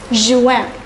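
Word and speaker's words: juin: me is pronounced as Juan I repeat once again it's Juan July is pronounced as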